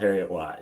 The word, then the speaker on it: Heriot-Watt: As it's spelled, Heriot-Watt. Yeah, you got it.